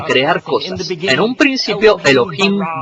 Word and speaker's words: Elohim: Se pronuncia Elohim. Repitan Elohim.